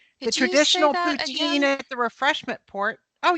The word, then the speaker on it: poutine: The poutine.